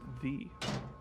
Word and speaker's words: Ye: Ye is pronounced the.